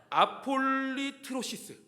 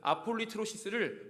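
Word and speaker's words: ἀπολύτρωσις: 속량.이 이 송량이라는 단어는 헬라어로 아폴리 아 발음도 어려워요. 제가 이거를 능숙하게 말하려고 아까 50번 읽고 왔는데 아폴리트로시스 아폴리트로시스입니다. 송량이 단어를 24절에서는 아폴리트로시스를 송량이라고 번역했습니다.이 단어의 뜻은 속량이지만 원래 단어의 뜻은 구속입니다.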